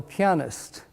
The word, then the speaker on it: pianist: And by the way, that's how it's pronounced, pianist, right? In case you've heard pianist and pianist and didn't know which is correct and didn't know who to ask, it's pianist, right?